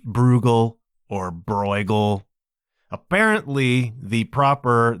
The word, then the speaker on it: Bruegel: heard that name pronounced brugle or bruegel apparently the proper this would be Dutch pronunciation is brugal not easy to say